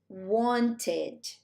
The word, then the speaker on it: wanted: So he pronounces it wanted. Okay? Wanted. So it's like it's a longer sound.